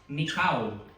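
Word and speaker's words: νικάω: But he who believes that Jesus is the son of God and overcomes here in the New Testament in Greek pronounces as mikaw.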